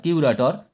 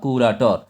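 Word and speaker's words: curator: হিসেবে যে ব্যক্তি থাকেন তাদেরকে বলা হয় কিউরেটর বা কুরাটর। এখানে কুরাটর বাংলাতে লেখা আছে, তোমাদের জাস্ট এটা উচ্চারণটা বোঝানোর জন্য কিউরেটরও হয় বা কুরাটর হয়, জাদুঘরের কর্মাধ্যক্ষ।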